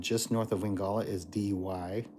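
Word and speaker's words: Dee Why: It goes North Curl Curl to the west Wingala and just north of Wingala is DY, spelled d e e space w h y.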